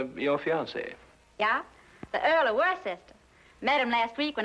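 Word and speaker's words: Worcester: something else too doc but it's spelled w r c e s t e r wor sister oh yes I see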